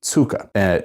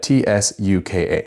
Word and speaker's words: tsuka: believe it is pronounced tsuka, T-S-U-K-A. And I heard some people pronounce it ska, but since the spelling is very similar to the tsuba, I imagine that it's pronounced slightly the same way.